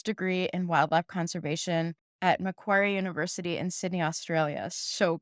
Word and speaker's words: Macquarie: She obtained a full scholarship from the Mexican government to pursue a master's degree in wildlife conservation at Macquarie University in Sydney, Australia. So cool. And did I pronounce that right too, Macquarie?